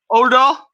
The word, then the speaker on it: Udo: The U is not is not pronounced like U in English. It's more of an O. It's a double O.